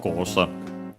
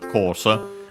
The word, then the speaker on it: コース: Yeah, the English word course accented, just like in English on the ko. On the first syllable, course, high, low, low.